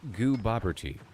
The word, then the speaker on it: Gooboberti: So it's pronounced like goo as in goo goo, Bob as in Bob. Hi, my name's Bob. As in question, and T as in T-I. T-I, like a Texas Instrument calculator.